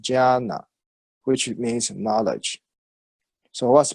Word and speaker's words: jnana: So jna, okay, if conjugated with the additional na, J-N-A-N-A is pronounced jnana, which means knowledge.